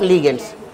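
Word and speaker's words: ligand: Then one type of लिगेंड्स, है ना, लिगेंड्स या लाइगेंड्स जो बोलना बोल लो, सही है, ठीक है ना।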